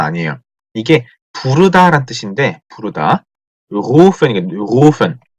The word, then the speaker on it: rufen: 이게 부르다란 뜻인데 부르다 rufen rufen 자 루펜 하는 거, 루펜 다르죠? 루펜 하면 발음이 요렇게 돼요. 루펜. 근데 요거는 루펜입니다. 루펜. 루, 루. 목 안에서 소리가 나죠. 루펜. 자, 이걸 그 조금 부정확하게 들리면 후펜 정도로 들리는 수가 있다고 하네요.